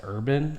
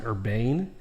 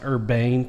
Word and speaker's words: Urban: But no, if you've ever seen him interview, because I believe his last name's actually not pronounced Urban. I think it's pronounced Urbane.